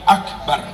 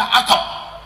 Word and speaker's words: Akbar: menyinggung tentang salat satb itu bacanya harus Allahu Akbar gimana Allahu akbar Allahu akbar Man Allahu akbar contoh-contoh bacaan Takbir yang salah satu Allahu Akbar Akbar itu salah jangan dibaca akep akep itu salah harus Allah AKB nomor